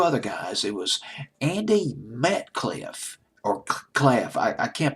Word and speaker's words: Metcalfe: Robin Hitchcock, two other guys, it was Andy Metcalf, or Claff. I can't pronounce his last name. It's Metcalfe, and Mars Windsor.